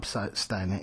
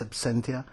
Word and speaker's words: absentia: a mistake you know when I say the word abania it's not abania it's Absentia it's I was pronouncing it wrong and for some reason